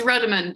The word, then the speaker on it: Ruddiman: I'm so sorry if I've mispronounced it. No worries, it's Ruddiman, but that's fine.